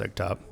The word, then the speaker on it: EGTOP: Eggtop, I think it's pronounced Eggtop, E-G-T-O-P, concluded the use of potassium phosphonate is not in line with the objectives and principles of organic production.